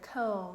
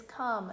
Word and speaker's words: come: Now friends, does it follow our silent E rule? No, if it did, it would say the word comb, and is that the word? No. So the word is come, C-O-M-E, come.